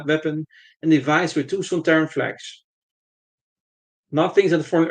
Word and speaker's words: Sontaran: I think that Kevin Lindsay insisted on pronouncing Sontaran by stressing the second syllable, Son, Ter, An, rather than using Robert Holmes' envisioned pronunciation, which stressed the first syllable, Son, Ter, An.